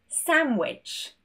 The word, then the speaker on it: sandwich: Moving on to the letter D, and this is when we have an N next to the D. For example, handsome, handsome, handkerchief, handkerchief, sandwich, sandwich. There's no D in any of these words.